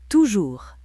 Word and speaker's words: toujours: Toujours, S muet.